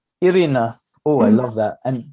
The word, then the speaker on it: Irina: please do the thing hi erina is that pronouncing your name correctly yes irina oh i love that